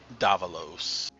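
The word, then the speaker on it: Dávalos: Davalos. Dabalos? I put it in chat there. Davalos with an accent on the first A.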